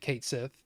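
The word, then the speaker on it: Cait Sith: I remember Kate Sith, which they actually pronounced it Kate Sith. And I think Dave over on the Game Dave stream, that's every Thursday night at 9 p.m. Eastern, 8 p.m. Central. Not that he needs me to promote for him. But anyway, he pronounced it Keitashi, I think.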